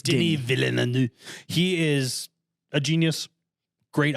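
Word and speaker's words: Denis Villeneuve: Dilly Denny Denny vainu but it's spelled Dennis with yes but he's French okay it's Denny villu he is a genius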